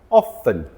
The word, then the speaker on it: often: Again, silent letter, silent T. There are many words in the English language that have silent letters on them. There is a video coming soon where I'll talk about many more of them, but today we're going to talk about this one. Often, 2 syllables.